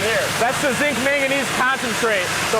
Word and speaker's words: manganese: Yep, and then here's your zinc manganese. Not magnesium, I'm saying it wrong, right? Yeah, it's a manganese. Manganese, right. It's totally different from magnesium.